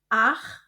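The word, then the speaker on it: acht: Kombinasi huruf ch dibaca seperti dalam tenggorokan kh dan kombinasi huruf e u dibaca oi jadi sib akh noin.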